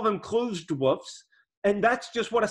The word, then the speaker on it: wff: silly when i say woof for a few times but honestly this is what logicians really do pronounce this word as uh we say woof and once once i